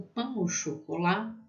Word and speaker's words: pain au chocolat: O pain au chocolat, qual tem som de O, né?